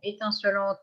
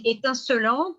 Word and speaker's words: étincelante: Donc, étincelante, là, la question ne se pose pas puisque c'est un seul L et on prononce selante.